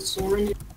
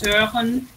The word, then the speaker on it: Søren: Like, it's a Danish name too, but we don't pronounce it Soren. It's Søren.